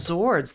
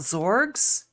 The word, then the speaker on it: zord: And lastly, in version five, which is supposedly the correct zords, they're called zords. They're not zorg. It's a zord.